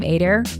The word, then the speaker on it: Adair: just realized this but care rhymes with your last name adir adir and care so I'm ader and I care so